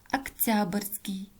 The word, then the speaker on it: октябрьский: Октябрьский. Тоже безударное гласное «о», произносим как «а».